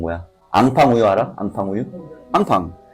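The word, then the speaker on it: enfant: 앙팡 우유 알아? 앙팡 우유. 앙팡. 앙팡이야. 예.이 이 근데 얘네들은 N을 앙으로 발음하니까 인폰트가 아니라 앙빵인데 이거를 그대로 미국 애들이 영국애들이 인폰트로 읽고 자존심 상하니까 2만 아이로 바꾸는 거거든.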